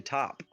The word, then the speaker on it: taupe: Taupe AU is like beige. auction. No, think like auction, so it's actually top.